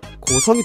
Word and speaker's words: 고성: 원래는 고자군이었습니다. 예전에는 성을 자로 발음했습니다. 그런데 시간이 흐르면서 자가 성으로 바뀌게 되었죠. 그래서 고자가 고성이 됩니다.